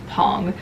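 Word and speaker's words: PANG!: Okay, next is Pong or Pang, however you want to pronounce it. The Korean pronunciation is Pong.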